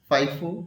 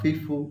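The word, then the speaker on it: FIFO: এটাকে আমরা ফাইফো বা ফিফো উচ্চারণ করি।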